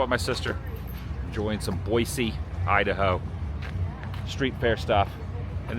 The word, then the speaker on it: Boise: There's a lot of flies in Boisey. Not to be pronounced Boise, but Boisey. But I think I either one is probably totally fine.